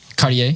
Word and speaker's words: Cartier: Cartier.